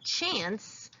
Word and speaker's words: chance: it says good so words like chance and change need that silent final e to make their soft sounds if change didn't have